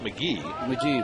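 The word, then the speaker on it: McGehee: pronunciation of his name it's Mahi right it's pronounced McGee McGee but but it's spelled Mahi it's kind of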